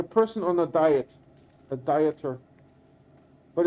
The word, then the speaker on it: Dieter: No, it's this is my name is spelled like this, like a person on a diet, a dieter, but it's pronounced like Peter with a D, Dieter.